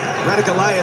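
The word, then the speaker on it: Ratugolea: Incidentally, Radigalea, that pronunciation, the Fijian family pronunciation.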